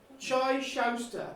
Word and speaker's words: Chysauster: I've been reminded there's a certain way of saying this word. Chysauster. Pete told me, yeah. Chysauster. That's apparently the proper way.